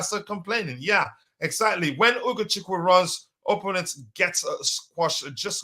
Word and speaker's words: Ugochukwu: The name can be broken into 3 syllables. I think Ugochukwu. No, just two levels. And yeah, Ugo and Chiku.